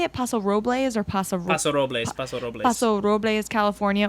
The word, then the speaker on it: Paso Robles: Paso Robles or Paso Robles?